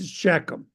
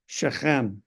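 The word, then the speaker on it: Shechem: tribes of Israel and they go up to sheum this town right here it's actually pronounced sheim and it has two hills with it and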